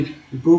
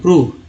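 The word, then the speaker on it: prove: PRO भी प्रूव में ओ का उच्चारण ओ के रूप में हुआ। TONE टोन में ओ का उच्चारण जो है ओ के रूप में, प्रूव में ओ का उच्चारण जो है ऊ के रूप में, प्रूव। ये देखिए ओ है लेकिन यहाँ ऊ बोला, प्रूव पढ़ते हैं, प्रूव।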